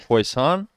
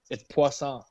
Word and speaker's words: Poisson: And we got none other than Poisson, or how do you pronounce it? Poisson? Poison? Way off, dude. It's Poisson.